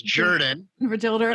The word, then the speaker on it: Jordan: So it's like Jordan, or excuse me. Okay. I know you're talking to Bill. I better pronounce it correctly in the South. It's Jordan.